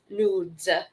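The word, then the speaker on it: Noodz: sticks and nudes but it's spelled n-o-o-d-z like nods nudes of course this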